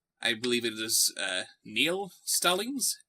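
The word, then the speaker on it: Niall: believe it is uh neil stellings n i a l meow maybe maybe dear bob show my name is pronounced neil neil stallings hi neil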